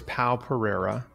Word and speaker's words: Pao Pereira: And so the first one is Pao Pereira.